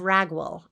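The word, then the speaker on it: Raguel: is referred to as hobab the son of ragwell r-a-g-u-e-l hobab so even though it is very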